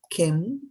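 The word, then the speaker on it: किम्: So the word Kim in Sanskrit, is like this word. The M is a half M in the Kim.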